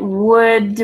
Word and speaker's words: would: what up very simple because the L is silent anyway you don't really need it would would maybe you can eliminate the u.s.